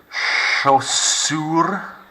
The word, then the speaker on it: chaussures: Des chaussures. Silent S on the end.